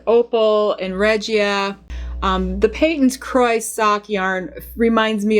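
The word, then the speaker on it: Patons: stash and this is Peyton's croix socks and the company pronounces its name Peyton's not patents if you go to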